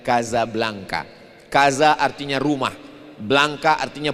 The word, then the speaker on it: Casablanca: Nama kota itu ditulis Casablanca. Pengucapannya adalah Kazablanka."